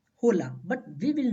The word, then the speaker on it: hola: but in Spanish is hola hola but we will not pronounce this as olola we will pronounce it Ola Ola because H is always silent in Spanish so we will pronounce